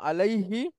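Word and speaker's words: عليه: এজন্য ছিল মূলত আলাই হু, কিন্তু এটা ব্যবহার হয় না বা ওইভাবে বলাও হয় না, বলা হয় আলাই হি।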